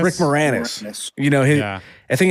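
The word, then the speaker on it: Rick Moranis: Rick Morannis. Rick Morannis.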